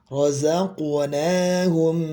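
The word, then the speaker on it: رَزَقْنَاهُمْ: Rozaqu rozaqnahum ya bukan rozaq rozaq enggak tapi rozaqnahum yunfiquun rozaqnaahum yunfiquun ya kita lanjutkan Ulik humul mukminuna haqqu.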